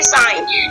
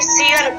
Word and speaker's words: sign: Example देखते हैं यहाँ पे, देखिए साइन, ठीक है। अब ऐसा नहीं सीगन पढ़ेंगे, सीगन नहीं इसको पढ़ेंगे, हम क्या बोलेंगे साइन पढ़ते हैं।